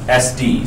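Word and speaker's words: Sᴰ: discriminative stimulus which is abbreviated s and then superscript D and it is pronounced SD so the SD is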